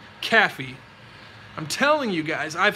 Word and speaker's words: Caffey: Spelled like Kath, no, spelled like this. Can you see this? K-A-F-I-E, Caffey.